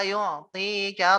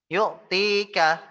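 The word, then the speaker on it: يُعْطِيكَ: Wala saufa yu'tika rabbuka fatarda. Ya. Yu'tika, yu'tinya harusnya panjang. Wala saufa yu'tika rabbuka, yu'tika, tinya panjang.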